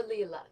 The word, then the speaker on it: Lila: Or Lila, I think is actually how you pronounce it, because it's Italian.